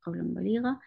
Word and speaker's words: قولاً بليغاً: And so this ba change this noon sound and change it into meem. So the correct way to say it is قولاً بليغاً.